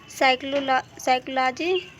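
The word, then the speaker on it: psychology: किसी स्पेलिंग में अगर पी के तुरंत बाद एन या एस आता है तो वहाँ पे पी साइलेंट होगा। जैसे कि यहाँ पे देखिए साइकोलॉजी, तो यहाँ पे पी के बाद एस आया हुआ है, तो यहाँ पे पी जो होगा वो साइलेंट होगा।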